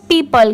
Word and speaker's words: people: जैसे अगर PEO, तो इसे PO नहीं पढ़ेंगे, यहाँ पर इसकी साउंड क्या आ रही है पीपल की, तो P की साउंड आएगी। यहाँ पर O लेटर की साउंड साइलेंट है, यहाँ पर सिर्फ P की साउंड आ रही है, और PLE पल की, ठीक है। जब इसे साथ में मिला देंगे तो पीपल।